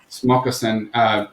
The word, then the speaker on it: Smakassen: is like you're having the, how do you pronounce it? Is Smoccasin? Yeah, Smoccasin.